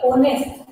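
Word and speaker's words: honest: इसको ऑनेस्ट नहीं बोलेंगे, इसको क्या बोलेंगे, ऑनेस्ट, ओ की आवाज आएगी।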